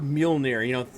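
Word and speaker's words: Mjölnir: look at the word Mjolnir, hammer, Thor's hammer from the Marvel movies. If you look how it's spelled, there's like random like J's and R's in there, and they're silent, and I'm like, where?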